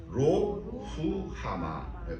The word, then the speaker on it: 로루하마: 고멜이 또 임신하여 딸을 낳으며 여호와께서 호세아에게 이르시되 그의 이름을 로후하마, 발음이 이렇게 돼요. 로후하마, 이렇게 로후하마라 하라.